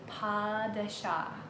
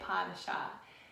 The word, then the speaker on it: pas de chat: He was giving everybody a lesson on how to say pas de chat. People were remembering it by pass the cat because the way it's spelled, P-A-S-D-E-C-H-A-T, kind of looks like it says pass the cat.